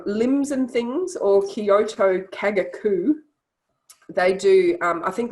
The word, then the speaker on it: Kagaku: other options um limbs and things or kyoto kagaku they do um i think limbs and things